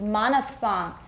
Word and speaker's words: monophthong: If it is just a 单元音,And the word for 单元 in English is monophthong. You can tell by the funny spelling, th. Th, 连续、啊、很奇怪一大堆这个子音 But we pronounce this as one sound.